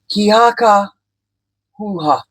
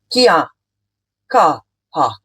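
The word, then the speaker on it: Kia kaha: Ki haka huha. Sorry, I pronounced that wrong. Let me get it right. Kia ka ha.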